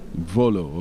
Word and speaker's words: Mvolo: The M would be silent. Okay. All right. We were just saying the M is silent, right? It's Volo. So you don't pronounce the M in Pierrette's name.